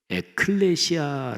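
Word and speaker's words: ἐκκλησία: 먼저 교회 교회 란 단어는 신약성경의 언어인 헬라어로 에클레시아 라고 발음합니다 저희 타 너는 두 단어가 합쳐진 말입니다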